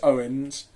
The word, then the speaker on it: Eoin: half okay that's right um my name is Owen I I work with Alice no in some